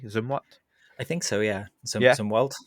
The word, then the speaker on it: Zumwalt: It was the USS Zumwalt. Am I pronouncing that correctly? Zumwalt?